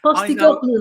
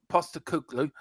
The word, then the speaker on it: Postecoglou: Postecoglou there. I was waiting for you two to Malaga. Get it wrong. Malaga. Postecoglou. Is that right? Postecoglou. Yeah, you can say it like that. It's like halloumi.